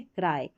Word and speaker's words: cry: अगर यहाँ पर छोटी स्पेलिंग रहती है CRY, तो यहाँ पर इसको आई नहीं पढ़ते, वाई को, इसको ई पढ़ते, इसको आई पढ़ते हैं, ई नहीं पढ़ते, ठीक है, क्राई।